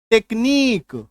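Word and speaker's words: technique: आई क्यू यू ई तो यूई के पहले अगर क्यू है तो इसका उच्चारण देखिए क्या हो जाएगा टेक्नीक ठीक है टेक्नीक आ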